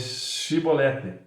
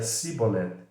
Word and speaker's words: Chibolete: não então ele diziam diz depois chibolete pois ele dizia simboleta porque não podia pronunciar bem então pegavam dele e